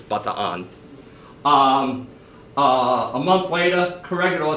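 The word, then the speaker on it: Bataan: of 42 but Iran surrenders that's the correct pronunciation by the way it's not the tan it's butter on a month way to Corregidor surrendered in 1943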